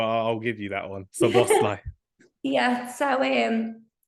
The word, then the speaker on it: Szoboszlai: Dominic Szoboszlai.